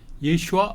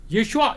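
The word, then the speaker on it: ישוע: 그러니까 예수라고 우리가 발음하는 거 그게 아마 1세기 예수의 귀에는 예슈아 이렇게 들렸을 겁니다.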